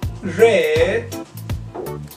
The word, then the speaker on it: red: Como sabemos, la pronunciación, usamos la R pirata. Red.